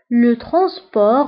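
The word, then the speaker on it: le transport: نقل مدرسي، لو ترونسبور سكولير، لو ترونسبور سكولير. فانتبهوا بالنسبة لو ترونسبور كتكتب ت في آخر الكلمة ولكنها لا تنطق، لو ترونسبور سكولير.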